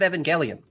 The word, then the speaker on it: Evangelion: That is a remix, a synth remix from End of Evangelion.